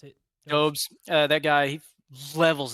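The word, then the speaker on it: Dobeš: Yep, that's how you pronounce it. Dobes.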